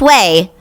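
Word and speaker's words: Ouai: clarifying detox shampoo from away pronounced whey spelled o-u-a-i uh i have so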